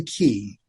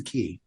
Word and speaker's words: Quay: a place called the key or the quay is the way it's spelled but it's pronounced the key and the key was